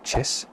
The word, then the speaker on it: kis: The first one, kiss, pronounced locally as chis, meaning gravel, and then dennu, meaning deep valley with a flow of water essentially within it.